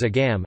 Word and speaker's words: agam: There is also a tendency to omit the G sound in words such as agam, agat, and again, a characteristic also of other Connacht dialects.